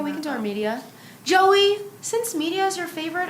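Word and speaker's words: Djo: Dujo? It's just Joe. I figured. The D is silent. Joe.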